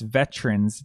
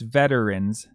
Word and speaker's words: veterans: You can pronounce it with two syllables, like it is in the Tom Russell version, it's Veterans Day, or three syllables, like in the Johnny Cash version, it's Veterans Day.